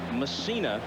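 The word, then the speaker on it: Mussina: messina in the game and messina is the way he prefers to have it pronounced all the controversy last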